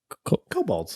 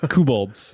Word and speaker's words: kobolds: you say their name cobalts cobalt i did it right that time okay yeah i was doing it wrong the whole podcast cobalts kuboldz is what you're saying this is a